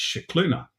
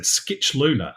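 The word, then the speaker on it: Scicluna: I looked at that and thought Oh that's shuna um males Heritage um and I was told no that's not right look at the pronunciation guide and I looked at it and it said Skitch Luna and I was like o that doesn't that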